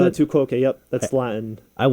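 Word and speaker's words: tu quoque: Is that how you pronounce it? Tuok.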